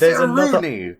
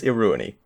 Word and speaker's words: Iruini: It's Iruni. There's another I in it, and I listened to the movie. I listened to Norek saying it. He says Iruni.